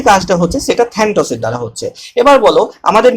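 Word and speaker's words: Thanatos: নাম দেওয়া হয়েছে থ্যান্টস এই যে এরস থ্যান্টস এগুলো একচুয়ালি গ্রিক ভাষার নাম যে কারণে কিন্তু এরকম উচ্চারণ ঠিক আছে ইংরেজিতে এ বলে কোন শব্দ নেই গ্রিক থেকে ডাইরেক্ট এই শব্দগুলো এসেছে বোঝা গেল তাহলে এটা হলো থ্যানাটস আচ্ছা বলো এরস এবং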